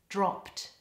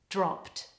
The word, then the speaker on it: dropped: in the word dropped the past tense ending is a cluster so a consonant cluster is when you've got two consonants in a row so the word is pronounced like this dropped dropped now speakers of Thai